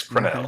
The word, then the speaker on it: Crenell: All right, let's do Crenell. Is that how you say it now? Yes, Crenell.